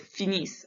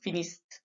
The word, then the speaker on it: finis: So in French, it's really important to remember that if there's a consonant at the end of a word, we don't say that consonant. And that's why it's finis, not finiste. Okay, now we've worked on pronunciation.